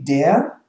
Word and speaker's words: der: It's only E-A. No R pronounced, right?